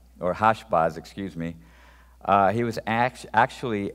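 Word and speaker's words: Hash-baz: So the son whose name was Mear Shalal Hasbaz, or Hashbaz, excuse me, he was actually an anti-type, or excuse me, a type.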